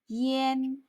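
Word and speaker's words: 烟: 연기 연자를 쓰고 yan 일성, yen 하고 소리냅니다.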